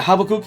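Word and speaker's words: Habbakuk: Uh it's a an Habakuk. Uh yeah, Habokuk. Yeah, that's how you pronounce it.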